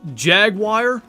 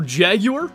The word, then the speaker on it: jaguar: Is it jagwire or jaguar? It's both.